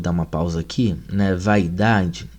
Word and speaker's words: vaidade: Mas no século X, algumas palavras como saudade e vaidade, né, eram pronunciadas, né, eh, para compor quatro sílabas, né, eh, o vai aí, né, que para nós seria um de tongo, né, eh, para os portugueses do século X seria um iato, né, a mesma coisa a palavra saudade, né?